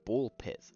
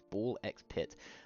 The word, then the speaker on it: Ball x Pit: The next game I beat was Ball X Pit, or just Ball Pit. Uh, that's how they say it in the trailers, but just to be clear, it's Ball X Pit.